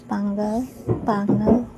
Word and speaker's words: Panguil: So, kini day siya nga video is pagdulong ni siya sa Pangal Bay Bridge or sa siya pag-pronounce Pangal.